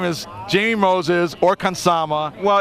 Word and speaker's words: Jaime: Well, first of all, his name is Jaime Moses or Kansama. Well, if you pronounce, Hispanically, it's pronounced, like Jesus or Jesus, right? Yeah. No. Yeah, Hispanic, like Edward James Olmos.